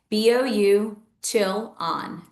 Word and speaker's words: Bouchillon: But if you're not sure how to spell it, it's bou chillon.